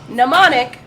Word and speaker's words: Mnemonic: Mnemonic.